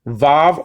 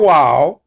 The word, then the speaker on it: vav: Yod, hey, vav, or wow. Okay, that letter can be pronounced in two ways.